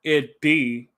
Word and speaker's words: id: Um, from what I read, it said that id, if I'm pronouncing it right, or no, you said rhymes with hid.